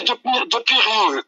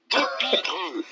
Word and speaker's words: Depireux: Vous m'avez appelé de Pireux. Enlevez le I après le R. De Pireux. De Pireux. C'est de Pireux.